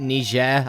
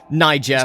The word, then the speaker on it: Niger: Next up, speaking of a country that sounds very similar to another country, I don't know why I pronounce it Niger, I don't know, but yeah, it's Niger.